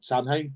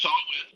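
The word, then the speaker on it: Samhain: Sam Hayne, is that how you pronounce it? Yeah. So Salt, it doesn't make zero sense.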